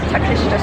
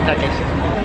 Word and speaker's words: Takeshita: Okay, so I pronounced it wrong, but it's Takeshita Street. Takeshita.